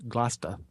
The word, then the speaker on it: Gloucester: this theater Cape Anne cinema and stage in Gloucester Massachusetts except that you know if I'm when I'm there I need to soften my arm or its Gloucester we're from Ireland so I just Massacre English